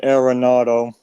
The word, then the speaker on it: Arenado: I I did one with It's Nolan Arenado.